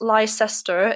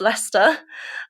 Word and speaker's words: Leicester: There was a school in Leicester, which is not Lysester, it is pronounced Lester.